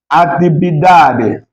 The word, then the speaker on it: actividad: Actividad. Remember, in Spanish, you do not pronounce V. V is pronounced as B, right?